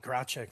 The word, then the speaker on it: Gracek: So now joined by Paul, is it Gracek? Gracek, very Gracek. good. Yeah, close enough.